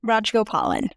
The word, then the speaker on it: Rajagopalan: Rajagopalan.